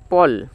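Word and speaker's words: pall: মানে জবনিকা বা পর্দা স্পেলিং পি এর জন্য প এতে অভালটি এক্ষেত্রে অ এর মত উচ্চারিত হচ্ছে তাহলে প অ প আর ডবল এল এ ল পল ফল মানে হচ্ছে জবনিকা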